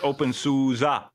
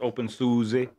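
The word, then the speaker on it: openSUSE: aid kits that's awesome I know right it's open Suza not open Susie yeah there's a video about how to how to pronounce Sousa yeah and you were the one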